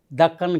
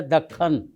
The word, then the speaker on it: دکن: کو دکن کی ملکہ، کچھ لوگ دکن کہتے ہیں، یہ پروننسیشن غلط ہے، تلفظ ہے دکن، اور دکن سے مراد